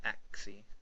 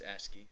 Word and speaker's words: ASCII: Is that how you say it? Yes. I always said ASCII. It's ASCII.